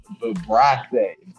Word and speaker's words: vibrissae: Word of the day is vibrace. Is who? Vibrace is spelled VIBRISSAE.